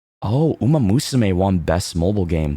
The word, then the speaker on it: Umamusume: I just saw a clip of the announcer pronounce it Umamusume. Umasume. Like, that's so funny. That's how they said it at the awards.